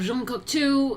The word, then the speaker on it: Jean Cocteau: Jean Cocteau met the age scientist Henry Poincaré.